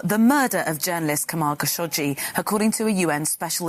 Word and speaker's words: Khashoggi: Official pronunciation. Jamal Khashoggi.